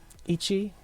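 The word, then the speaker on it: 一: This is how you pronounce them. Ichi, ni, san.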